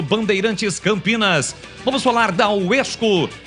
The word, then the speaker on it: WESCO: Você precisa seguir a Rádio Bandeirantes no @Rádio Bandeirantes Campinas e também seguir a UESCO no @UESCO_Brasil no Instagram. Lembrando que o UESCO se escreve com WESCO.